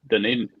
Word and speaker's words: Dunedin: You in Dunedin? Like what? Yeah, Dunedin. Look at see. Yeah. I'm glad you said it because I would have butchered how to say it.